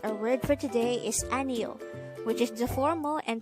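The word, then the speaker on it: 아니요: Aniyo could be divided into 3 syllables. Aniyo. A is just the sound of A itself for the placeholder, while ni is the combination of the sounds of nian and I, and yo is just the sound of yo itself with a placeholder or no sound iyong at the beginning of the syllable.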